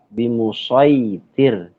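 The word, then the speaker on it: بمصيطر: Jadi dibacanya itu huruf sod tetap ya. Bimusaitir.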